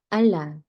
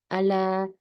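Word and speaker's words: الله: 단어 든요 아라 어 그래서 여기서 알라 알라 약간 앞 단어에 받침을 닐 넣어 주시는게 예 그게 이하고 라의 차이예요 큰 차이 그래서 요거를 좀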